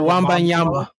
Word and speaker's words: Wembanyama: I'm sorry, I don't know how to pronounce his last name. Victor Wembanyama. Wembanyama? Victor Wembanyama.